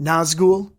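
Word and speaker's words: Nazgûl: you're not going anywhere actually it's pronounced Nazgul or you can just call it a ring wraith Casey corrected the Killer's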